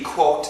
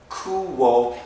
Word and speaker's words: quote: little bit coo coo it's something like a c and then a wo kuo but you got to put it in one syllable quo quo quo quote